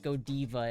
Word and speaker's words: Godiva: It's pronounced Godiva in Belgium, and you know what?